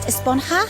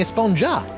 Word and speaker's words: esponja: huh actually it's pronounced esponja with an H sound at the end really but we've all been saying a sponger yes I know it's